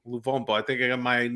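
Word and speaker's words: Luvumbo: card fairly early, again, on a tackle on Lumbombo. That's how you pronounce his name? How do you pronounce his name? Lumbovo? Luvombo. Luvombo.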